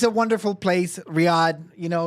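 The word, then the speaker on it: Riyadh: I mean, uh, and it's pronounced Riad. Riad.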